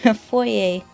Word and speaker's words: foyer: he's in the foyer i pronounced it uh foyer like the french pronunciation the correct way and the director kept